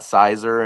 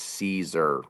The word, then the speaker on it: Siser: like, "Wait a minute, it's not Siser and it's not Scissor." The company name is Caesar.